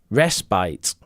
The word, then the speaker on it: respite: acceptable pronunciations schedule schedule how do you pronounce respite and despite do you pronounce respite despite respite respite no it's respite rest bite they've given us a rest bite despite rest bite Mina says Rich we